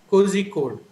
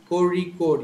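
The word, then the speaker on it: Kozhikode: who are not aware of this sound will pronounce it as Jose cozy code so but actually the sound is RA Corey code you're supposed to say Corey code and there's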